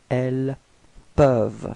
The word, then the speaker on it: elles peuvent: it was for ils, elles peuvent. So the same rule, final E-N-T is not pronounced, so you get elles peuvent.